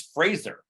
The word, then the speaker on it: Fraser: just mispronounced his name I just learned it's Fraser phrase It's hard to say um Fraser that's right Brendan Fraser that's his